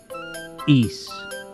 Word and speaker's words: Ys: Javid says it's pronounced like geese without the G. East.